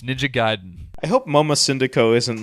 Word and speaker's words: Ninja Gaiden: giden correct all right from itagaki's mouth himself ninja gayen American fans call it ninja gayen and it bothers him because you just heard him all this Japanese and he was like M ninja gay ninja G um it's ninja giden I hope Moma syndo